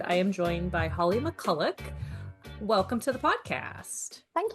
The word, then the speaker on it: McCulloch: And on this episode, I am joined by Holly McCullik. Welcome to the podcast. Thank you very much. And also well pronounced for my last name. You did that really well.